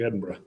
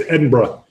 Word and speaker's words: Edinburgh: It's more like Edinburgh. I got in a lot of trouble for over enunciating borough. A lot of trouble on that. I know in New York it's the borough. Yeah, I'm all right here. There's grimacing. Edinburgh. I was told phonetically it's Edinburgh. If you say, is that better? Edinburgh. Edinburgh. Okay. If you say Edinburgh, you could blend in.